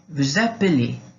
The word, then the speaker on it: vous appelez: E o S não pronuncia, a não ser quando a gente encontra ali um som de vogal, coisa assim, né? Vous appelez, vous appelez. Então, vous appelez. Aí esse vous appelez, esse S, ele passa a ter um sonzinho de Z na hora de ligar.